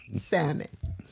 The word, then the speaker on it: salmon: I draw the line the L you do not pronounce in Salmon the L is silent